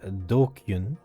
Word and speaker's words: DQN: all right what's happened japanese nestling pronounced dokyun used to refer to